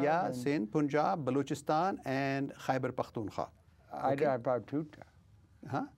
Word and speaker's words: Khyber Pakhtunkhwa: Yeah, Sindh, Punjab, Balochistan, and Khyber Pakhtunkhwa. Huh? How do you say that? Khyber Pakhtunkhwa.